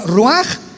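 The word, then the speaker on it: רוח: Por eso el Espíritu Santo se pronuncia roaj, se escribe roach, ch.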